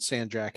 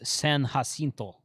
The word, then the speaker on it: San Jacinto: i think mike's activated sand jack hasn't he he has yeah well he's activated the battleship i assume he's probably done uh uh the the correct pronunciation of that is san jacinto yeah um but uh